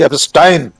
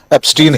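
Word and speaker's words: Epstein: जिसे वे कह रहे हैं इन फेमस मिस्टर जेफरी एस्टाइन। आपने ठीक कहा उच्चारण। राहुल गांधी ने भी एस्टाइन ही कहा था। हम लोग भारतीय लोग उसको एस्टीन ही कह रहे हैं।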